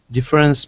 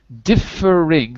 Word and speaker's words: differing: us off daniel please difference prediction of customer service wait wait differing three syllables different good differing expectations